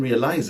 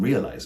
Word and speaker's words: realize: not the last realize lots of Latin language speakers in my experience place the stress on the last syllable the ISC suffix so they might say something like I didn't realize it but more accurately